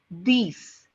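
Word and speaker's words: dix: Neff nif Ness okay 10 in French is being written down as d i x which is sounds like you know which sounds like these these so it's set with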